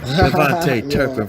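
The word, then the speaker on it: KaVontae Turpin: I said your name wrong. It's a Pro Bowler, Kavante Turpin, from the kick return and punt return.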